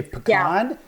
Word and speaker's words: pecan: Now I've heard you say pecan, and I've heard you say pecan. Yeah. Which one is it? So what do you say? I say pecan. Okay, so 70% of Americans say pecans, according to a survey done